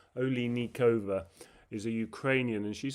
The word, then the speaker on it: Oliynykova: Olay is the initial syllable sound. Then Lee Nikova Oikova is a Ukrainian and